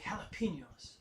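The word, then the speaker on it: jalapeño: hours all right like jalapenos yeah exactly jalapeno you got some cajones to eat those jalapenos like that exactly it's just like a huff sound instead of a jug sound all right let's see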